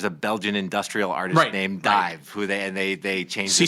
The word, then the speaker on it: DIIV: It's DIIV, DIIV. It was called, you spell it the regular way, but it's after the Nirvana song.